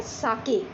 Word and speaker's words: sake: तो बेटा इसको प्रोनाउंस करते हैं साके।